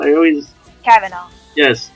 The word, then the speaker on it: Cavanaugh: Like, have I ever pronounced her last name wrong? I always... Kavanaugh.